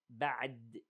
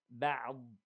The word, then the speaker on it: بعض: So notice how I pronounce the عين and then the ضاد. I didn't say بعد دال. No, it is بعض, بعض, إض, إض.